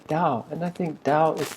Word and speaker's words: Tao: So the da de see if you read it straight it'd be tao deqing t a o but here we say dao and I think dao